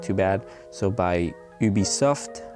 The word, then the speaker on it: Ubisoft: too bad so by ubisoft i won't pronounce it with the english accent because that's just terrible it's ubisoft not ubisoft but ubisoft it's a french company and it was released